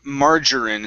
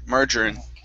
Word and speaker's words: margarine: up is all right the word margarine instead of margarin marger margarine margarine okay very good uh next